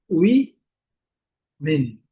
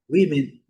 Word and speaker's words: women: Então qual que é a melhor pronúncia? A sílaba forte. Wi min. Wim min. Wim min. Women. Letra O com som de I.